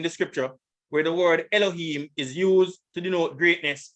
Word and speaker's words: Elohim: There it is, Elohim. Here's the pronunciation.